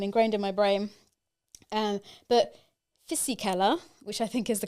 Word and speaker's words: Fisichella: And Giancarlo Fisichella started 8th, having 2 bad rounds at the start of the season.